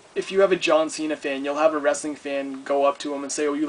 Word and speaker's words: John Cena: his name wrong he called him John chaina instead of John Cena which is where Santino's